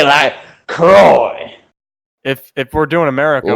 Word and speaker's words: Croix: seen little witch academia isn't it Croix yeah I'm I'm pretty sure I would say like in French it's like lacrosse yeah cool but in